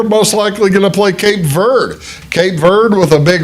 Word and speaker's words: Cape Verde: And uh you say, "Bruce, everybody else is calling that Cape Verde because well, it's Spanish vanish for ver for green." Verde. That's the word, but that's not how they pronounce their country. If you hear interviews with people from the country, they call it Cape Verde. I call it what they call it.